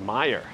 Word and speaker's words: Meijer: It's pronounced Meyer.